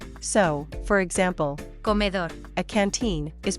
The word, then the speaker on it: comedor: pronounced Islas Canarias, and the D after the accent is weakened. So, for example, comedor, a canteen is pronounced comeor.